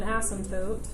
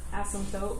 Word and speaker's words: asymptote: The definition of an asymptote, it's ASYMP. The P is silent. Asymptote, we don't really say the P.